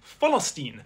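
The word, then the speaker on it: فلسطين: They pronounce it philstine, which is proof that the word has existed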